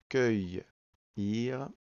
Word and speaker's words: cueillir: Donc on regarde le mot, déjà on entend cueillir, deux syllabes, cueillir, donc on voit que le début c'est un C suivi d'un U, on n'entend pas le U qui va permettre en